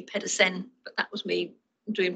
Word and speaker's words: Pedersen: And if he was here, he'd tell me off because I've spelled his name wrong, because he's from Denmark, not Sweden. So it should be Pedersen, but that was me